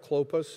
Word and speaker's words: Clopas: sister, Mary the wife of Clopas, and Mary Magdalene. So, Cleopas, not to be confused with Clopas, which is a Hebrew Aramaic word, this one a "Mary the wife of Clopas, and Mary Magdalene." Clopas is often a shortened